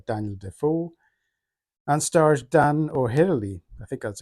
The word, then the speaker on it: O'Herlihy: This is a 1954 film version of the famous survival story by Daniel Defoe and stars Dan O'Herlihy, I think that's how you pronounce it, as Crusoe and Jamie Fernandez as Friday.